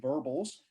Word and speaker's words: verbals: Okay, verbals rhymes with gerbils, our unique capacity to talk, but from the vantage point of all the other big mammals, it was a disaster.